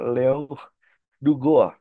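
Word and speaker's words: Duguit: tokoh dari Perancis nih ini kalau bahasa Indonesia bacanya Leon dug tapi kalau bahasa Perancis bacanya Leong dua Leong dua dari Perancis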